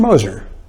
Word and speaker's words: Gmoser: know i have a my name is spelled with a g it's g-m-o-s-e-r the g is silenced old austrian name and uh it's a kind of a guttural thing but uh we don't pronounce the g at least in my